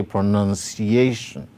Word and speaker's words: pronunciation: So we say pronunciation. Pronunciation. So pro. None is carrying the secondary stress, while A is carrying the primary stress.